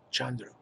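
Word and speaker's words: Khandro: Okay, so now, the name of this person I discovered, this great Dakini, female enlightened being, it's spelled K-H-A-N-D-R-O, Chandra, like, very much like Sandra.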